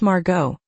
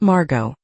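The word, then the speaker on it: Margaux: Msure, if I may, it is pronounced Margo, not Margot.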